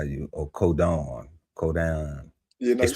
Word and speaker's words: codon: Oh, codon.